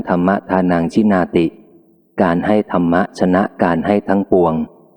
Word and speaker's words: ธรรมะ: เข้า ใจ ชัด เช่น ธรรม ที่ สะกด ด้วย ท ธง โดย มาก ถ้า ไม่ มี คำ ต่อ ท้าย ส่วน ใหญ่ จะ อ่าน ว่า ธรรม แต่ เพื่อ ไม่ ให้ เข้า ใจ ผิด ว่า เป็น คำ ว่า ธร คำ เดียว กับ การ กระทำ ที่ สะกด ด้วย ท ทหาร ดัง นั้น ผู้ บ ทึก เสียง จึง จำเป็น ต้อง อ่าน ว่า ธรรมะ ใน เกือบ ทุก ประโยค ขอ เชิญ ร่วม กัน